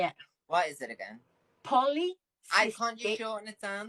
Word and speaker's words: polycystic: Who's got polyester ovaries, everyone? EQ, can you please say it correctly if you're going to say it? What is it again? Polycystic.